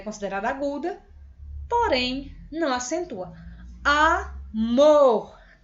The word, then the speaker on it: amor: Amor. Amor. Amor, bem grande, né, gente? Então, é bem mais forte. Então, ela é aguda, porque a mais forte é a última sílaba.